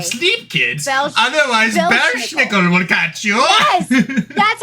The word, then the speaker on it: Belsnickel: Belschnickel will catch you.